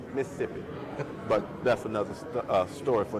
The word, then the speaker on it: Mississippi: I am from Mississippi, and if you're from the state of Mississippi, it's pronounced Mississippi.